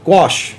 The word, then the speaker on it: gouache: mix the Coase how do you say it wash wash can you mix the gouache with acrylics yes you can and why would